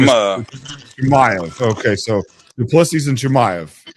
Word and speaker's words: Chimaev: His name is Chimaev. Okay, so Plessis and Chimaev. Thank you, Dean Thomas, for pronouncing his name.